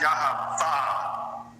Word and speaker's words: Yahweh: And it's YHVH, and the proper pronunciation of that is Yahweh.